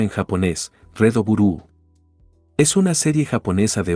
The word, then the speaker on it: REDBLUE: Rad Bu ape su pronunciación en japonés. Redo Burúu es una serie japonesa de ocho episodios adaptada del manga con el mismo nombre.